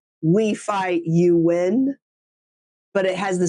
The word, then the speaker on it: Nguyen: And Win is the Nguyen.